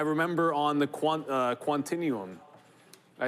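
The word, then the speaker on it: Quantinuum: I remember on the quant uh quantinum, I said it right twice.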